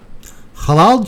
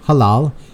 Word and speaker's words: halal: So there it is, halal, H-A-L-A-L. I say it like halal, with a ha.